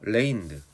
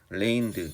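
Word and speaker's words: reigned: 이게 통치하다 지배하다 뜻이거든요 쥐가 사일런트 사운드에 그래서 무음이에요가 발음이 안 돼요 그래서 레인드 그 B 같아요 발음이 레인드 이렇게 되는 통치하다 지배하다 뜻입니다 슈프림은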